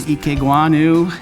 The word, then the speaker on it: Ikegwuonu: Our guest today, Ikegwuonu, and I've been worried about saying your name wrong.